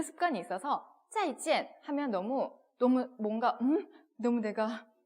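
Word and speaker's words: 再见: 그래서 막 찐 이렇게 막 일성으로 읽고 있는 거예요. 사성인데 그래서 한국인들은 꼭 인사할 때 老师 선생님 짜이찐 이런다는 거예요. 일상으로 막 이렇게.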